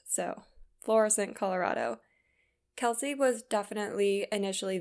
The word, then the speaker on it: Florissant: He was a rancher who was living about 1,100 miles away from Kelsey in Florissant, Colorado. Okay, I'm just kidding. I just looked it up and it's pronounced Florissant, so Florissant, Colorado.